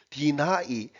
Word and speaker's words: deny: before denying, deny 이거 참 발음에 이거 데니 이렇게 하도 읽어가지고요. deny 부정하다, 거절하다 이런 개념이죠.